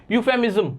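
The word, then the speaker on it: euphemism: अच्छा, अब ईयू पढ़ा, ई नहीं जाएगा इसमें, ई साइलेंट रहेगा, पढ़ा कैसे जाएगा, कैसे देखते हैं आप पढ़ा कैसे जाता है। यूफेमिज्म, क्या पढ़ा जाता है, यूफेमिज्म।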